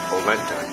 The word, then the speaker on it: Orenda: The name Orenda is actually a Native American word pronounced Olenta.